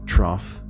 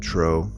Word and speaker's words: trough: feel the comments because i constantly mispronounced trough and said tro so i'm sorry lesson